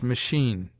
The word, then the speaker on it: machine: a consonant as Archbishop CH in some French words not yet assimilated sounds like sh as machine Shay C according to